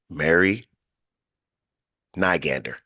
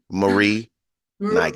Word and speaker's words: Mari Nygander: But without further ado, I introduce to you Mary Nygander. Did I say it right? Marie. Marie Nygander.